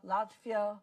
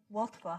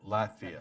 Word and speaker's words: Latvia: Kaliningrad, Donbass, the huge build-up forces, they're not just close to Poland, they're close to Estonia, Latvia, Lithuania? Watva, how do you say Watva? Latvia. Latvia. So yes, everybody sees that,